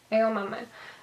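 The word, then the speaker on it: Aomame: And then you have Edamame. I have to see her name to be able to pronounce it. It's like edamame, except instead of like a green bean, it means peas or something.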